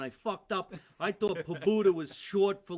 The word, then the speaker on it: Pobuta: So real quick, how do you say your last name so I get that right Pobuta, the rest of the night?